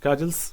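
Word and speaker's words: castles: kajals in द एयर इसमें टी जो है ना साइलेंट होता है कल्स पढ़ते हैं विल्ड कल्स इन द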